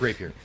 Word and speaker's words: rapier: Zod is now um did anybody actually look up the pronunciation of that it's Rapier everyone knows it's rap here there's no there's there's